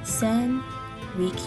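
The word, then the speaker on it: Rikyū: hot caffeine content apologies I will most likely butcher these sand reek you r i k y u famous 16th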